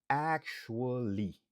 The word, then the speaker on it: actually: Actually, qui signifie en réalité. Li prononcer actually. N'a pas que li gen 4 syllabes, mais les natifs yo a parlé, yo gen tendance prononcer en 3 syllabes.